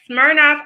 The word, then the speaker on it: Smirnoff: and ends in enough rhymes with shirk off so that is what